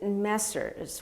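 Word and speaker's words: Messrs: I pronounce it Messers, which is the plural of Mr. and Mr.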